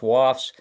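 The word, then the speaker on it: WoFS: The acronym is pronounced WAFS.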